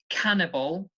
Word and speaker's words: cannibal: obviously like I said before cannibal the stress is on the first syllable cannibal was the the verb nibble the stress is on the first syllable nibble nibble okay so cannibal nibble